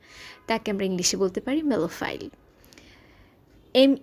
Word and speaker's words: Melophile: সংগীত প্রেমী যিনি সংগীত ভালোবাসেন তাকে আমরা ইংলিশে বলতে পারি মেলোফাইল।